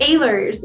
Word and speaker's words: Ehlers: Ehlers. I'm sorry. Gosh darn it. No, it's okay. It's Ehlers. It's spelled completely different than it sounds.